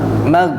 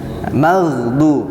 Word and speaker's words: المغضوب: Nah, jangan mag ya, tapi ada getarannya. Maghdu, magho.